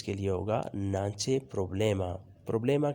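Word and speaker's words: problema: لیے ہوگا نانچے پروبلیما۔ پروبلیما کا تلفظ بھی آپ ذرا درست طریقے سے پڑھا کریں، پروبلیما، یہ پرابلما نہیں ہوتا۔ بعض لوگ اسے انگلش میں پڑھنے کی کوشش کرتے ہیں پرابلما، لیکن یہ ہے پروبلیما۔ کوئی خواہش نہیں ہے،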